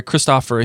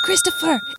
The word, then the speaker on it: Kristoffer: normal in Norway, where Kristoffer Hichu, I have no idea how to say his name, so I'm just going to play this. It's not Christopher. It's Kristoff. Kristoff.